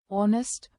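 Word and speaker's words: honest: Right साइलेट हर मोने एच जब एच ओ से पहले आए या डब्ल्यू के साथ डब्ल्यू एच के संयोजन में हो तो अक्सर साइलेंट होता है। उदाहरण ऑनेस्ट ऑनेस्ट अ our what what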